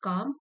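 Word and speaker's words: calm: इट वाज़ काम। काम का मतलब है कि शांत था उसका दिमाग। एल यहां पर साइलेंट है।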